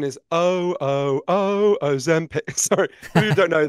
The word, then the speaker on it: Ozempic: So the correct pronunciation is Ozempic. Sorry, if you don't know, that's the extremely annoying jingle in the adverts. It's Ozempic, yeah.